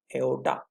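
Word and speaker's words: aorta: एओर्टा। आर थोड़ा silent है, मान लीजिए एओर्टा।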